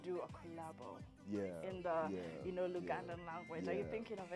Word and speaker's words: Luganda: Can you speak the, is it Baganda? How do you say this language from Uganda? Now that you are singing Butterfly in Luganda. It's Luganda.